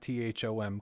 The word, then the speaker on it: Thom: me up on Twitter at THOM. The H is silent, but very important.